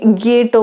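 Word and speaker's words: Giotto: है, पर एनसीईआरटी में जोटो लिखा है। और अगर हम इसका इटालियन प्रोनाउंसिएशन देखें तो ये गिएटो मिलेगा, यानी कि ज की जगह पर ग आ जाएगा, गिएटो।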